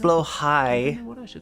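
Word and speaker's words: Blåhaj: named my blahaj um I believe it's pronounced blow high but that's why I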